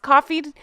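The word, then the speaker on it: Ko-fi: KO Dash fi coffee I believe it's pronounced coffee and it's backslash Real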